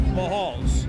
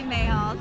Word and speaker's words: Mahal: How do you say the name of the place is Mayahalls or Mahals? The Mahal family pronounced it Mahal. I say Mahals.